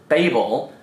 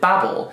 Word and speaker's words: Babel: some people pronounce it babel and some people pronounce it babble and i think babel is like the american pronunciation i had the same